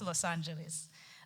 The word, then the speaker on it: Los Angeles: as Los analis however in American English it is pronounced as Los Angeles let's get back to